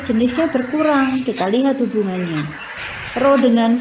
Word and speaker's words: rho: Ini bacanya rho ya teman-teman ya.